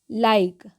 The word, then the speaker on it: like: तो यहाँ पर RICE है तो हम इसको क्या पढ़ेंगे, रीसे, जी नहीं, हम इसका उच्चारण करते हैं राइस, ओके। उसी तरीके से LIKE, इसको क्या पढ़ेंगे, लाइक, ओके।